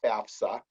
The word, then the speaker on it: FAFSA: is the term fafsa it's an acronym it stands for free application for federal student aid and it's pronounced fafsa but certainly that's a